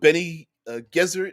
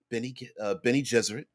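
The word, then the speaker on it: Bene Gesserit: Um, the Benny Gesserit, the Benny Jesuit, different. Some call them Ben Gesserit stuff. It doesn't matter. Anyway, in the movie, it's pronounced Benny Jesuit, and the Benny Gesserit are a witches.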